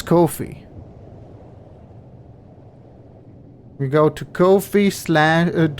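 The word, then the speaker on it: Ko-fi: It's KO minus FI. It's Kofi.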